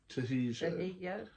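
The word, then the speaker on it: Trejo: Um, it also had Danny Traiggo in it. Trajeo Trajio. That's it.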